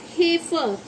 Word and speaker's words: heifer: ठीक है, ऐसे ही और क्या लिख सकते हैं, LEISURE, इसे बोलेंगे हम, इसकी प्रोनाउंसिएशन है लेज़र, क्या होगी, लेज़र। ऐसे ही HEIFER, इसका मीन्स है हेफर, क्या होगा, हेफर।